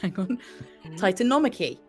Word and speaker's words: Titanomachy: And it's a key bit of Greek mythology, and it is the Titanomachy.